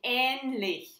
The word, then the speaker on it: ähnlich: When you pronounce the Ä long, it's like in ähnlich.